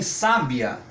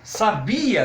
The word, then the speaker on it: sábia: esse acento tônico ou exemplo em sábia nós queremos dizer que uma pessoa conhece profundamente determinado assunto então nós falamos que a pessoa é sábia E se eu quero dizer que uma pessoa conhecia um determinado assunto eu digo aquela pessoa sabia daquele assunto percebo onde vai a força da nossa comunicação Olha eu